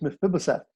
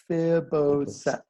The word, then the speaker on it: Mephibosheth: It's really hard to pronounce. Leland sang a song about him. Anybody? It is Mephibosheth. Mephibosheth.